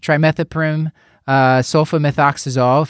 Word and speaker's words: trimethoprim sulfamethoxazole: and he had been started on trim sofa trimethoprim sulfamethoxazole that's how you say it three days ago